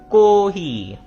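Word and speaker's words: コーヒー: Coffee को बोलते हैं कोही। कोही। ठीक है? को यहां पे लॉन्ग लॉन्ग साउंड आ रही है।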